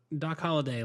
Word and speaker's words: Holliday: "Hey, talk about Doc Holliday. Like, how'd you come up with that guy?" Yeah, did I do it? Did I say Hollywood? No, you said it right.